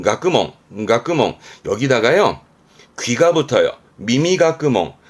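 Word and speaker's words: 学問: 발음은 가끄멍.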